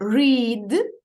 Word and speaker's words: read: у нас з вами якщо ми цю літеру не читатимемо то якраз вийде колір Red червоний Давайте спробуємо повторити read read book читати Червону